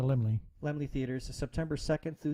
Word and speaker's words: Laemmle: So It's having an exclusive theatrical release at the, I believe it's pronounced the Laemmle Theaters. the Limley.